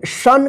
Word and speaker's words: शान: कोई शन कोई शब्द है? ये शब्द है कोई शन? इसका कोई अर्थ है? नहीं है। तो इसलिए इसका जो उच्चारण होगा ना शन नहीं होगा, शान होगा, ठीक है ना।